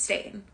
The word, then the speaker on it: Stein: Which, to be fair, his name is Stain, and it's spelled like Stein.